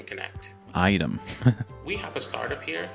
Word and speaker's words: AITEM: founder and CEO of Item Connect. Item. We have a startup here it's spelled that has a huge potential to disrupt the marketplace of retail.